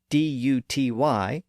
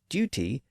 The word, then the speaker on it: duty: In Britain, you're likely to hear the word D-U-T-Y pronounced as duty, whereas in American English,